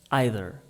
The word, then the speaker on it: either: eu falo assim mas Tem gente que fala neither either não tem certo e errado português não tem gente